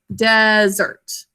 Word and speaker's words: desert: Our manual has the S in the first syllable to keep the vowel short. However, according to most dictionaries, we would mark it this way because we pronounce it desert, desert. This is really pronounced in the second syllable.